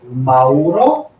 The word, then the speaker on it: Mauro: Uh my name is Mauro. So if you want to pronounce properly, you can say no. from New Zealand. Okay. Try to say with the O at the end.